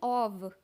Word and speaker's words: of: इसको बोलते हैं ऑफ, लेकिन OF जहाँ पर सिर्फ एक F आता है, OF, उसको बोलते हैं ऑव। व का साउंड आता है लास्ट में।